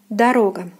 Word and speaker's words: дорога: So the stress falls here on the second syllable, the second O. It is pronounced as O. So the first unstressed one will be pronounced as A. Дорога, дорога, дорога.